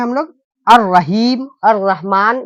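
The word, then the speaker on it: الرحيم: इस लाम को साइलेंट रख देंगे, ऐसे पढ़ देंगे, अलिफ को डायरेक्ट इसमें मिला देंगे, ये लाम को क्या कर देंगे? छोड़ देंगे। अर रहीम, इसको पढ़ेंगे क्या? अर रहीम, ठीक है।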